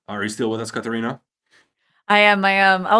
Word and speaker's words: Catarina: So, how do I pronounce it? Catarina.